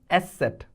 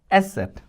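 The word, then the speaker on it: Eszett: beta symbol is called special character is called asset. Esset.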